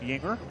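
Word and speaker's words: Juenger: Last name is spelled J-U-E-N-G-E-R, but you correctly said, pronounced Yinger.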